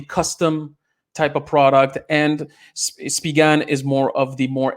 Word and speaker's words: Spigen: Yeah, Spigan. So that's how you pronounce it.